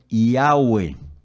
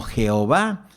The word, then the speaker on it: Yahweh: Ecos hoy consultado en el lenguaje hebreo se pronuncia el nombre este nombre yagüe y agüe de ahí viene el nombre de